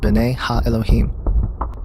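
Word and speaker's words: בני האלהים: The sons of God mentioned here in the Hebrew is pronounced B'nai Ha-Elohim.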